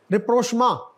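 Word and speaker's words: rapprochement: टम फम international relation रि प्रोमा French है य रि प्रोमा मीन सुला सफाई बेहतर करना तालुकात को यनो अच्छा अगला जो है उसम कौन सा लेटर साइलेंट है रिसी प साइलेंट और आगे रिफॉर्मेशन न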